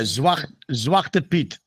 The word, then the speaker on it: Zwarte Piet: Yeah, Zwarte Piet.